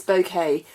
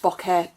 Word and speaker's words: bokeh: got here this is this bouquet effect bokeh bouquet however you want to pronounce it b-o-k-e-h that kind of affects